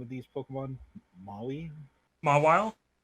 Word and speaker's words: Mawile: how do you pronounce the name of these Pokemon? Maui? Mawile? Mawile.